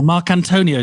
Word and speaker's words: Marcantonio: or marc antonio did i pronounce it right perfect right um yeah if